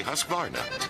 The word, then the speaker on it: Husqvarna: now how to say husqvarna you say husk like corn and vine like varnish without the ish and nah